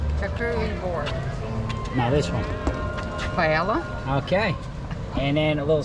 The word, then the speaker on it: paella: Roberta, help me with the pronunciation. Charcuterie board. No, this one. Paella.